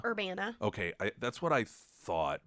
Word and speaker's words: Urbana: And here's this American Missouri, guy from up around, or is it pronounced Urbana? Urbana.